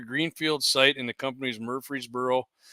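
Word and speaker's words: Murfreesboro: But uh so they're going to be constructing 170 acre greenfield site in the company's Murreey'sboro. I'm not pronouncing it wrong. It's Murreey'sboro.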